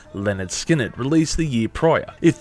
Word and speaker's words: Lynyrd Skynyrd: to their highly influential and explosive debut effort pronounced Leonard skinned released the year prior if the band wanted